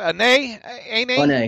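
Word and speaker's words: Anae: How do you pronounce it? Ane, yeah. Ane.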